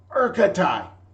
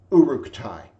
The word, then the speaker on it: Uruk-tai: Urkatai! Uruk blinked. Sanford had once again failed to pronounce Uruk's simple Orcish name, but he'd never gotten so close before. Still, he could not let the mispronunciation stand. Uruk-tai.